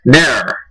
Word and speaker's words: ne'er: But if you drop the V, you can kind of make it 1, maybe 1.5. Ne'er.